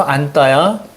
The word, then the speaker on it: 안다: 자, 예를 들어서 안따야. 자, 이것은 된소리가 됩니다. 용언나무 된소리예요. 안따.